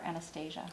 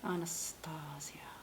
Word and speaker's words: Anastasia: definer and medium brown do you say Anastasio Anastasia honest Asya meet you people say pronounce it both ways I think when you're talking about the movie it's on ask Anastasia if I talk about the makeup I think it's honest ah yeah she because she